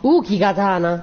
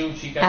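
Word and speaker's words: Uchigatana: Uki katana. No, si dice Uchi katana. Allora, perché hanno messo la... Perché la si scrive Uki, ma si legge Uchi.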